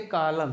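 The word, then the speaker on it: column: के बाद न है तो इसे आटम एन साइलेंट है जिसे पतझड़ बोलते हैं क्या होता है य पतझड़ जैसे उसी प्रकार से कॉलम क्या लिखा है सीओ एल यू एम एन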